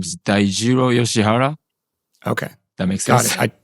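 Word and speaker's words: Daijiro Yoshihara: My name is Dairo Yoshihara.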